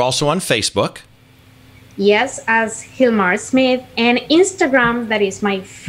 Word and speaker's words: Gilmar: But you got to go look at Hilmar's work because it's absolutely amazing. So, Hilmar, if people want to find you, what is your website? It's pronounced like an H, but it's actually spelled G-I-L-M-A-R Smith.